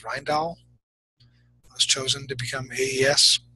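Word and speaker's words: Rijndael: five in 1999 uh I always say the name wrong I always want to say Rendell but I think it's ryall was chosen to become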